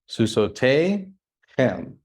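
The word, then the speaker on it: סוסותיהם: Susote hem. You don't need to pronounce the yod.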